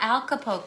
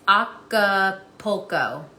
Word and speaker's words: Acapulco: mean it could no it's not alcopo no see that's why i thought stacy it's not look there is no l after the a it's acapulco see stacy you said